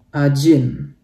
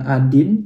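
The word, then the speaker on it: один: Ajin. Artinya 1 ya. Jadi ini huruf D tapi dibaca kayak J ya teman-teman. Jadi bacanya bukan Adin tapi Ajin.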